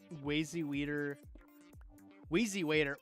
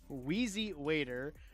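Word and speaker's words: Wheezy Waiter: Weery waiter. Wow, that was a hor that was a horrible pronunciation. Whezzy Waiter, uh, Retin Link, The Mythical Kitchen, Try Guys.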